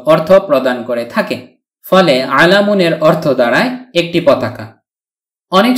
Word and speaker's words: عَلَمٌ: ফলে আলামুনের অর্থ দাঁড়ায় একটি পতাকা। অনেক সময় আমরা আলাম বলে থেমে যাই, শুধু আলাম উচ্চারণ করে মুখস্থও করে থাকি, অর্থাৎ ওয়াকফ করে ফেলি, মানে শেষের তানউইনুনটি উচ্চারণ করি না।